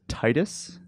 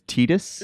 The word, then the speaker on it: Tidus: Uh, for me I grew up thinking that it was Titus Yes. X. Actually, it's Tidus.